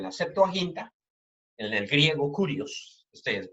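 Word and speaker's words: κύριος: Y ese es el término que se utiliza en el Antiguo Testamento, en la Septuaginta, en el griego kurios, se pronuncia, es el término que se utiliza para Dios.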